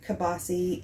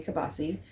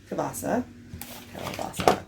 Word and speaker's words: kielbasa: It is a creamy kielbasa and potatoes. Now I say kielbasa because that's how Logan pronounced it when he was little, but it is kielbasa.